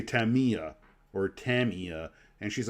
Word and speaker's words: Tamiya: and I've been told it's pronounced Tamia not Tamiya um I've been told